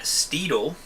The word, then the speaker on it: Steedle: There's a guy in New Jersey that's called Matt Steedle, and he has a company called Steedle Transmissions, and it's spelled like a steed, like S-T-E-D-L-E, like a Steedle.